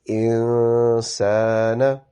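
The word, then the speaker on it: الإنسان: when noon has a jazm on it, the way the sound is prolongated is that you do not touch your tongue inside your mouth anywhere, and the sound of noon comes through and it's pronounced via your nose and your mouth as well. So it is insana.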